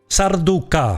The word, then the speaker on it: Sarducaa: Sarducca release or how the absolute pros pronounce it. Sarducca.